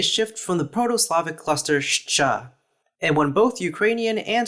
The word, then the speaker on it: Щ: In Ukrainian, it's pronounced shcha, as a cluster of the voiceless post-alveolar fricative and affricate, and in Bulgarian, it's pronounced shta, as a cluster of the unvoiced post-alveolar fricative and alveolar stop.